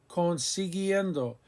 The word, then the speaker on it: consiguiendo: To get, conseguir, consiguiendo, consiguiendo. We keep the U after the G because we want the hard G sound.